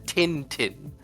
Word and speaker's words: Tintin: I I probably uh the the pronunciation of that it was master tintin.